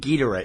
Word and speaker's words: Ghidorah: Well, that's like Gamera or Gamera, depending on which film you see, but I think Ghidorah is the correct pronunciation.